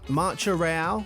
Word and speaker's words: Marcha Real: national anthem has no words one of M marcha real is that how you would pronounce it yeah marcha Ro yeah okay nailed